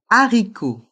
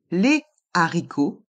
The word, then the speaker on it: haricot: demi F fille et le h aspiré qu'on ne prononce pas haricot handicapé on ne fait pas la Lison avec un h aspiré on dit les haricots on ne dit pas